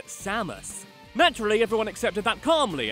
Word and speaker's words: Samus: In the first two games, Mr. Ran's first name was announced closer to the Japanese pronunciation as Samus. But from Brawl onwards, it adopted the more Americanized Samus.